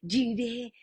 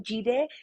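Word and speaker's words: Jireh: en el Antiguo Testamento se reveló como Jehová jiré el señor es mi proveedor por si necesitas escribirlo jire se escribe con j y latina r e de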